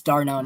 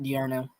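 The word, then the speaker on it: d'Arnaud: That's how you pronounce his name for the future. It's Darno, not Diarno. Okay.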